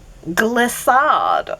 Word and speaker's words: Glissade: Glissade. Okay. Is that a great name or what? Because it's Gliss as in it rhymes with bliss, but it's also gliss